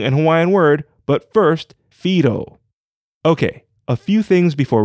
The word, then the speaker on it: Whiro: hawaiian word but first fido okay a few things before we start first fido is spelled w-h-i-r-o but is pronounced with an f we saw this previously with the tanefa back in episode 61.